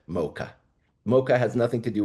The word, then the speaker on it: Mocha: was shipped out through a port that was pronounced in Yemen, Yemen Arabic, al- Maka. You pronounce it mocha.